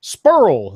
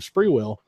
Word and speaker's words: Sprewell: been mispronouncing names but it was saying spur Oh instead of Sprewell that's what sticks out